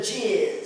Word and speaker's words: jizz: In birding, we call it the jizz. Some people spell it J-I-Z-Z, just pronounce it jizz.